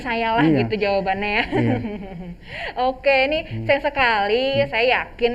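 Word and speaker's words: を: Kemudian kalau partikel itu tulisannya he dibaca partikel wo tulisannya wo dibacanya o.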